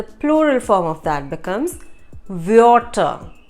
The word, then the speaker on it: Wörter: So, Wort, W-O-R-T, Wort is a word, and the plural form of that becomes Wörter. Wörter, W-O umlaut R-T-E-R. Wörter.